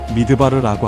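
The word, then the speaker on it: מדבר: 히브리어로 광야는 미드바르라고 합니다. 흥미롭게도이 단어는 말씀하시다라는 뜻에 다발음 와 어원을 같이 합니다.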